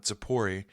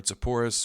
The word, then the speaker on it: Sepphoris: But last time we ended the day in Zipporah, or Zipporus, or Sepphoris, depending on how you say it.